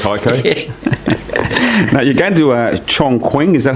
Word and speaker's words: Chongqing: Now, you're going to Chong Quing, is that how you say it, Heiko?